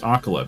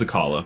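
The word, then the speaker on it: Akkala: Also, it is pronounced Akala, because people say the name of it in this game. I thought it was Akala, but whatever.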